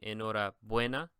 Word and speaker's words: enhorabuena: I know I told you that if the word is going to be a normal Spanish word without an accent on it, the stress is on the penultimate syllable. So in this case, it would be enhorabuena, right?